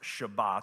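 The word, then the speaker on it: שבת: so what was Sabbath the word Sabbath is actually a Hebrew word that when properly pronounced is pronounced Shabbat but if you don't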